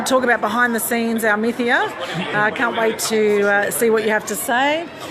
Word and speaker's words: Almythea: I believe we have another panel coming up in here for Almythea, I believe it's pronounced. Have I got that correct? Yes. Yeah, got it right.